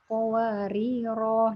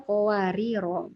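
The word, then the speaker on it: قَوَارِيرَا: Wa yutafu 'alaihim bi aniyatin min fiddatin wa akwabin kanat qawarira. Nah, itu waktu berhenti kan harusnya qawariro. Kadang tapi ada yang misalnya belum paham bacanya kanat qawarir.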